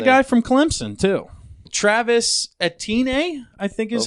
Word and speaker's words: Etienne: Travis Etienne, I think is how you say it. It's Etienne.